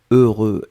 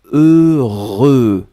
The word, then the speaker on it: heureux: voulaient prononcé deux fois heureux donc ne ne regardez pas le h ne regardait pas le x ne regardait pas le eu juste fermer les yeux visualiser c'est cette combinaison heureux heureux et après vous